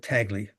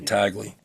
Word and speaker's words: Tagle: Uh, So you're going with Tagley. I am. Yeah, thanks for reminding me how that's pronounced. You better be right, because I'm going to start saying Tagley.